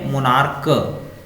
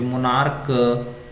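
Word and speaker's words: monarch: जैसे यहाँ पे मोनार्क क की तरह यूज हो रहा है, यहाँ पे मोनार्क है ना, मेट्रियार्क, स्टमक और हायरार्क।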